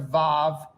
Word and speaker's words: vav: Joseph, could I ask you to pronounce these instances of the letter Vav with its vowel, please? So the letter is Vav. It looks Right. like a capital I.